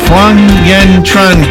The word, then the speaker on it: Phuong Uyen Tran: Phuong, Uyen, Tran, gosh, I'm so sorry if I'm not saying your name right.